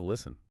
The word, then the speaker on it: listen: Wait, why did the T drop out of listen? Well, listen comes from the Middle English word listen. Middle English speakers naturally dropped the T because it was physically difficult to pronounce when stuck directly between an S and an N.